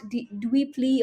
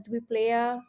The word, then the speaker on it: Dweepley: It's at Dweepley on Twitter. I was recently pronouncing this as Dweeplaya, which is a completely normal human mistake to make.